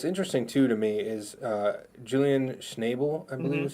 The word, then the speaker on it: Julian Schnabel: Now this is what's interesting too to me is Julian Schnabel, I believe is how you say it.